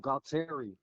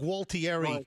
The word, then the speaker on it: Gualtieri: Bob Galtieri. I'm sorry, what? Bob Galtieri. No, you're not pronouncing that properly.